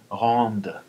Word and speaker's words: rends: Rende. This verb in the present doesn't, you don't pronounce the D.